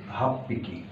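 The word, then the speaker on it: 八匹: যোগ হিকি, ইপিকি যদি হয় হাঁচি যোগ হিকি, হাফ পিকি, স্বাভাবিকভাবে হাফ পিকি সাকানাগা অ্যারিমাস।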